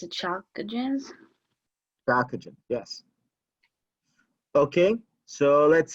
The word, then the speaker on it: chalcogens: No, I don't know how to pronounce it. Chalcogens.